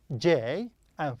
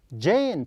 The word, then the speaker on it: Jane: Yes, the first one is J, and pronounced as J. Okay, is it Jane or Jan? It is Jane. Perfect, yes, Jane. A and E.